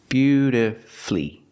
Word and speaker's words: beautifully: syllables is not correct we pronounce it with three syllables beautifully beautifully put the stress on your first and third syllable beautifully flee flee is the final syllable flee beautifully and of